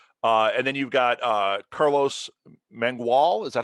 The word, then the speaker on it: Mangual: And then you've got Carlos Mangual.